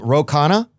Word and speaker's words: Ro Khanna: Um Roana, that's your name. You got that. You got the pronunciation perfect.